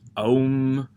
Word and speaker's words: Om: from the sanskrit alphabet and when pronounced they make the sacred sound and so they're pronounced om and they're used in